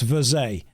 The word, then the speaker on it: Verge: It's French, pronounced Verze. Well, I would pronounce it that way, but I don't respect the French language, so I won't.